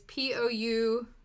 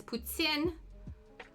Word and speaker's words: poutine: talking about the Canadian food dish it is p-o-u-t-i-n-e and it's pronounced people pronounce it poutine but that is incorrect it is puts in but that's okay there's a song by a